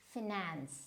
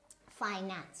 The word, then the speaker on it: finance: a simple word, but sometimes I have heard people saying this as finance. So finance is wrong, finance. So it will always be finance. So now finance, because see, when you go into the phonetics of it, now this is a noun, and when you're using it as a noun, so the stress will always be in the first syllable.